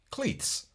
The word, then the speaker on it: clothes: In Scotland, Clothes. we pronounce cleats.